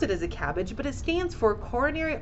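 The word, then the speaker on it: CABG: example of this is something that we pronounce as a cabbage when somebody is going in for a procedure called a cabbage it's c-a-b-g and we pronounce it as a cabbage but it stands for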